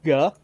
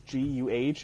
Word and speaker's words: Guh: It's transliterated as G U H, and I have to be honest, I do not know enough about the language of the Southern Cochone Native Americans to know I'm saying it correctly. Guh. But guh. That's what this anthropologist Catherine McClellan has transliterated as. So that's what I'm sticking with.